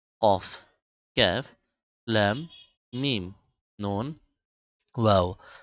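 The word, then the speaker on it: ق: ফা ফা এরপর হল কফ মোটা করে কফ কফ কাফ কাফ কাফ লাম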